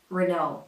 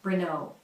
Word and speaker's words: Renault: Renault with the American R. Renault. Those final letters are supposed to be silent and the stress goes on the second syllable.